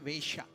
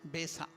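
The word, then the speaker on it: veṣa: The covering of your body is called Vesha. Different covering of your body that come from the Sanskrit word Vesha. So Va has become Ba, Besa. Sha cannot be pronounced, so they will tell Sa. Besa. Subesa means good dress, good clothing.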